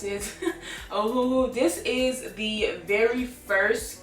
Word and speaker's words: Ohuhu: And then this brand, Ohuhu, that's how you pronounce it. Ohuhu.